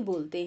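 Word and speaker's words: bowl: Whole बोल कोल, आपको याद होगा मैंने पिछले अपने वीडियोज में बताया था कि इसको बी ओ डब्ल्यू एल को बाउल नहीं बोलते हैं, वी विल प्रोनाउंस इट बोल, होल बोल कोल, है ना.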